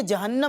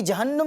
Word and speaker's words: جہنم: یہ اس کو بعض لوگ جہنم پڑھ رہے ہوتے ہیں، تو یہ جہنم نہیں ہے. اس کا جو درست تلفظ ہے وہ ہے جہنم. تو یہ جہنم نہیں بلکہ جہنم ہے.